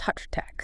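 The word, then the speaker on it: حضرتك: It's pronounced hatratak. Atratak, got it.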